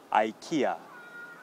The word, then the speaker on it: IKEA: key that you use to unlock your door IKEA IKEA's this weekend I'm going to go to